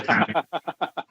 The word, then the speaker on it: Tamiya: really started with Tamiya, however you want to say it. I'll say Tamiya. That's how they say it in Japan, and that's how they say it in England. So I'm going with that.